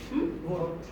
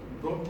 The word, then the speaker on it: vote: When you pronounce B, not B. What is usually what we make mistake that very. Some people say very powerful, but this is very. That teeth will touch the lower lip.